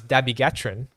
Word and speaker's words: dabigatran: So, for example, one of the drugs, the bigatran, okay, The bigger trend. the bigatran. Some people say as dabigatran. I say as the bigatran, all right.